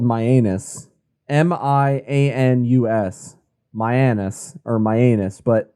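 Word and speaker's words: Mianus: a uh in connecticut i believe it's called myanus m-i-a-n-u-s myanus or myanus but that is how it is spelled and that is legit so we have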